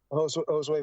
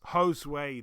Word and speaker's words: Josue: Josue Vargas? Josue, there we go. I've been saying Josu and I don't know. Josue. Josue, you say?